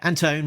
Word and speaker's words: Anton: Yeah, Anton rhymes with phone.